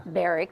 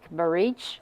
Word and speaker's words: Baric: Joe baric did our and baric is not baric barich you know he pronounce